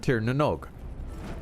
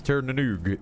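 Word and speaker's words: Tír na nÓg: The Knights of Tirnanog. Or sometimes Tirnanoog, depending on pronunciation.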